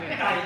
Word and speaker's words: ไก่: ภาษาไทยไก่ภาษาไทยไก่ เกมแล้วเรื่อย ไก่ ๆ ภาษาไก่เอ๊ะ เกมแล้วเหมือน Yeah, gai and kai. อ๋อไก่ไข่ Yes. ไก่เอ๊ะ Gai is chicken, but egg ไก่ is ชิค kai.